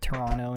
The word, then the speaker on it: Toronto: is Canadian that's why she pronounces it Toronto not Toronto yes Argo I'd say